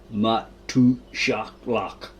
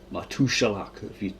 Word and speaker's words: Matushalach: 521, little Aramaic name, Matushalach. Matushalach, that's how you say it.